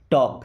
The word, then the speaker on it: टॉक: Then टॉक टू मी, टॉक देखिए इस word में एल साइलेंट है, ओके।